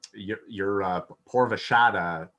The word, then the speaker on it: Purva Ashadha: So anyhow, you mentioned to me that your moon sign, Purva Ashadha, that's how it's pronounced.